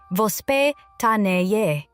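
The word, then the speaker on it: воспитание: To understand why many Russian children develop healthier eating habits, you first have to understand a Russian parenting concept called vospitanie, pronounced vospitanie.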